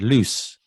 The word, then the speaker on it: loose: vowel well one o and loose as short a vowel sound it's got two o's strange to know it should be the other way around i think that's why people confuse it i think you're right and then obviously lose has like a z sound doesn't it at the end and loose obviously has an s sound yeah so i think